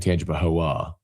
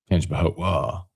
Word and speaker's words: Tangipahoa: If you're new and you're wondering why, cuz I was saying Tangipahoa, and there was this debate not debate, but someone from the Hammond area said they don't pronounce the A.